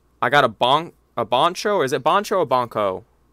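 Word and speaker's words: Bancho: another loliman xiaomong i got a bong a boncho is it boncho a bonco b-a-n-c-h-o boncho is that boncho hakeem how do you spell it b-a-n-c-h-o yeah that's bonjour boncho okay so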